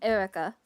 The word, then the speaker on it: Eureka: did you say Eureka Eureka 7. It's I think that that's probably what the English pronunciation for it was if I had to guess. But it it's it's Erica. That's why I was so confused.